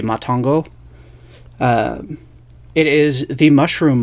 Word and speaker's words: Matango: pronunciations are m-a-t-a-n-g-o so if it's still supposed to have a Japanese pronunciation obviously it would be matongo uh it is the